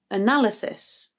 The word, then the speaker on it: analysis: With analysis, the second syllable is stressed, na, but there is a schwa either side, so the a at the beginning, na, and then the y afterwards in the third syllable, analle, analle. So you have analysis, analysis.